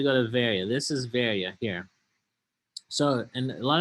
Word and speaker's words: Berea: This is Berea here. So, and a lot of times it's pronounced Berea, but in Greece, it's a fairly big city called Berea today in Greece, and there are many churches